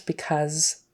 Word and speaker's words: because: of a z because we would pronounce because with a z sound even though it's spelled with an S when he live lived